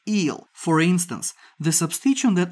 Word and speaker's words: yl: the parent with the ending y l which we pronounce is eel for instance the substition